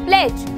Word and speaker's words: pledge: जैसे कि मैं बोलूँ प्लेज, तो यहाँ पे PLEDGE इज the correct spelling, but हमने प्लेड्ज नहीं बोला, हमने बोला प्लेज, तो यहाँ पे D हो गया साइलेंट।